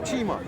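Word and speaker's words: Cheema: So now today I'm going to speak about my clan, which is my caste, which is the Chima, right? It's spelled Chema.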